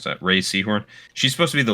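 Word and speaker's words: Rhea Seehorn: 'Cause I think Ree Seahorn or Ray. It's Ray, I believe, is actually how you pronounce that. Ray Seahorn.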